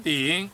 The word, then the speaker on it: 饼: 个字哈，它的读音就是饼，波一恩饼啊，叫做